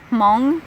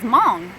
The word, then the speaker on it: Hmong: But then I tell them, well, my ethnicity is Hmong. And they're like, what's Hmong? And I was like, and they're like, oh, how do you spell that? I'm like, silent H, M-O-N-G.